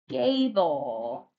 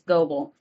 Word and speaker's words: Gable: which by the way many of you will think that that is goble if you ever forget on here. Gable is pronounced gable. Doesn't look like it but it is.